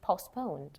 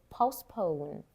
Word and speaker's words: postpone: the launch date the launch date might be postponed. So one pronunciation here point I want to just focus on the stress. Okay postpone postpone.